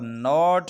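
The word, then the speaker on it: gnat: यहाँ पर नोट है, KNOT नोट।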